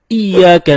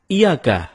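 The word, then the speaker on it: إياك: temen-temen ketika kita membaca iyyaka nabudu wa iyyaka nasta'in ada yang membacanya dengan Iyakah tidak menekan huruf Ia seperti seperti sebagaimana kita jelaskan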